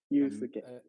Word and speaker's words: Yusuke: Is that how I pronounce it? Yusuke. Yusuke. Yusuke. Yeah, exactly.